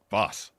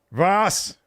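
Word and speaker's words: was: all crazy what what how do you say what in German boss what Voss Voss yeah there we go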